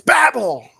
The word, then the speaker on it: Babel: the Tower of Babel it's Babel pronounce it right oh yeah Rebecca learning